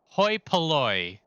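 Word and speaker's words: hoi polloi: the common people yeah so it's Hoy pooy is how you say that yeah the the the the the rabble it's ancient Greek apparently I'm not going to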